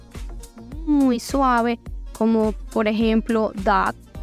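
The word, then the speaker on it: dağ: suave, como por ejemplo dag. Dag tiene una G suave al final. Dag significa montaña, pero se alarga un poco como la A que digo. Dag no es como una pronunciación tan fuerte como, no sé, si dijéramos gato, por ejemplo.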